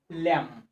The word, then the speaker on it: lamb: Lamb. Okay, so B will remain silent.